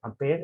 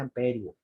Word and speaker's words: ampere: Nos están diciendo que J se escribe así, que el ampere, que se, y se dice ampere, no se dice amperio.